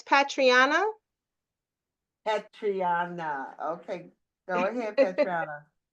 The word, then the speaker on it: Patreinnah: First of all, Patrian, I asked you to pronounce your name so I wouldn't keep mispronouncing it. No, it's okay. It's Patriana.